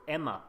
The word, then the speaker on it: EMA: like final voting and it's EMA as you can say or Emma as I've learned how it's supposed to be pronounced as chipa Valley urbanist